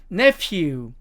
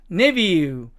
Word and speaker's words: nephew: 자, 이 네 번째 단어도 미국식 발음으로 가면 nephew, nephew 이렇게 가지만 영국식 발음으로 가면 nephew, nephew 이렇게 F 발음이 V 발음으로 발음이 나는 것을 알 수가 있습니다.